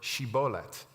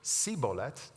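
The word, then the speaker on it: shibboleth: would tell them to say the word shibolet the Ephram mites who pronounced the word CET would be discovered and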